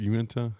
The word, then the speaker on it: Uinta: Yeah, it's, and it, like, as far as like the Uinta, like I think that's how you pronounce it, Uinta.